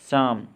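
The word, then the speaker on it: psalm: Wrong, no, knitting, honest, शाम। अब देखिए कि नीटिंग में के और दूसरी टी का उच्चारण नहीं हुआ, बोलने में नीटिंग ही आया। इसी प्रकार शाम में पी और एल दोनों साइलेंट है।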